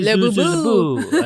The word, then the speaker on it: Laboulaye: So you say it like this. If you're in America, you can say Laboulaye.